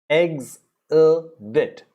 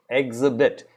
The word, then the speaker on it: exhibit: rhino then you have exhibit eggs a bit exhibit it's not exhibit it's eggs a bit eggs a bit eggs eggs a bit exhibit all right after